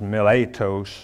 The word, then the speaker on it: Miletus: And from Miletus, in the Greek this is actually pronounced Miletos, and less correctly called Miletum in 2 Timothy chapter 4, verse 20, according to the Smiths.